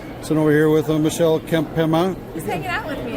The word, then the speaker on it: Kempema: Sitting over here with Michelle Kempema. He's hanging out with me. It's awesome. How do you pronounce that last name? Kempema.